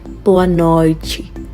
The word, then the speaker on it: boa noite: Boa noite. We are getting Ch instead of T because that's the Brazilian accent, okay?